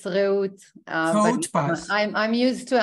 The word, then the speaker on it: Reut: Is that how I pronounce it? It's Reut.